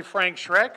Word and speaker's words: Schreck: Our first speaker of the night will be Frank Schreck of Brownstein Hyatt Farber Schreck LLP. Did I pronounce that correctly?